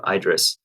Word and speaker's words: IDriss: too bad, especially when we change the pronunciation from IDRiss to IDRiss, which is much closer to address.